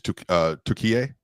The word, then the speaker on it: Türkiye: Yeah, the name pronunciation that I've been using on Locked on NBA is Türkiye. It's actually not Turkey. That's how Turkish people say it. So I promise you, Turkish people don't say Turkey.